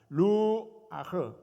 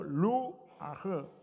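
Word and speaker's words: רוח: 루 아흐 발음을 저렇게 합니다. 하나님의 영이라고 했을 때 그 하나님의 영이라는 말은 히브리어로 루 아흐 이렇게 표현해요. 자, 여러분 모두 한번 저를 따라서 보세요. 루 아흐.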